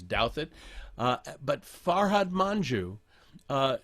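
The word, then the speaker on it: Douthat: maureen dowd ross douthit if you've ever wondered how to pronounce his name it's douthit he's very conservative and farhad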